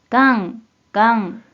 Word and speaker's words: 願: 먼저 뜻으로는 願う、願う、 라고 있고 한편 음으로는 がん、がん、 이라고 발음해줘요.